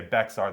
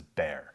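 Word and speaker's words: Bexar: Pronounce the pronunciation of I'll say Becks are the wrong way. Uh, when referring to the county in Texas as Bear, uh, it's carryover from when Mexi Mexico owned Texas.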